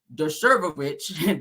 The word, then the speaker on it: Dershowitz: Now they're saying that, for instance, Harvard law professor Alan Dershowitz, that's how you say his name, is publicly named in the judge's order.